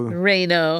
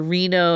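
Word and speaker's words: Reino: So, Reo. Yeah. Not like the city in Nevada. No. When I was like looking up the pronunciations of it, it's like either Reo or Reno.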